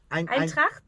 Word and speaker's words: Eintracht: I pronounce it right. Eintracht Eintracht Frankfurt.